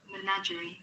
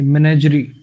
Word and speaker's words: menagerie: Menagerie. Menagerie. मेनेजरी pronunciation है बच्चे इसकी, मेनेजरी। मेनेजरी, मेनेजरी का मतलब होता